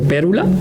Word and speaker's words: Pérula: Existe una escritora de protocolización de propiedad de los terrenos de Pérula, con un acento en la U y no en la E, y Chamela, expedidos por